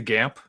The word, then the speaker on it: GAMP: And so since gynandromorphophilia is not the easiest word to say, often people just shorten it to GAMP, the acronym, and you just say it like camp.